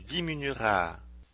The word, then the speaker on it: diminueras: voudrais mentionner est que dans les verbes en IER, UER, OUER et accent aigu ER, au futur simple, nous prononçons seulement les voyelles I, U, OU, et. Le E après ces voyelles n'est pas prononcé.